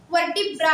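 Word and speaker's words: vertebrae: biologically ठीक है व वर्टेब्रा कहते हैं ठीक है जिसकी स्पेलिंग होती है का स्पेस नहीं बोल रही हूं वी ई आर टीई बी आर ए ई वर्ट ब्री ठीक है ये उसको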